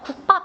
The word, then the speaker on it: 국밥: 국밥 이런 거 어때요? 국밥 해가지고 뒤에 된소리로 되는 거 바로 느껴져요?